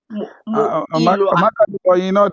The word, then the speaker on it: Moiloa: Hi, how do I say your surname? Muilwa. That's a royal surname. You must say it properly.